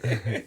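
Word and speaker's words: Nikolić: That's way too many syllables. That's a Nemanja Nikolic. Nikolic.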